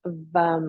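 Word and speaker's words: वं: Just breathe here, work with the Bija mantra of VUM, V-A-M, pronounced VUM.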